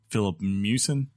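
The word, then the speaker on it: Filip Miucin: pull their review for investigation into its writer, Philip Mewson.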